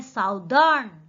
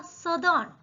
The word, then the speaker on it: southern: Next देखिए, SOUTHERN, इसको normally हम पढ़ते हैं साउदर्न, लेकिन ये साउदर्न इसका करेक्ट प्रोनाउंसिएशन नहीं है, इसका एग्जैक्ट प्रोनाउंसिएशन क्या होगा? सदर्न। इसमें भी देखिए रे का उच्चारण करने की आवश्यकता नहीं है, सदर्न इसका उच्चारण हमें करना है।